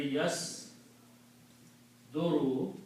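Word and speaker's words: يصدر: in this particular case, middle letter will have a dhamma instead of a fatha. So it will be pronounced yas duru.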